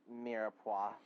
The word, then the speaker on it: mirepoix: It's pronounced mirepoix.